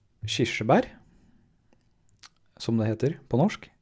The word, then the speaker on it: kirsebær: Kirsebær som det heter på norsk. Kirsebær.